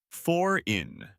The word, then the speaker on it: foreign: The G is silent. You say foreign.